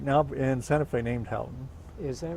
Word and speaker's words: Houghton: It's an English name, and it's in England it's pronounced Houghton, Houghton.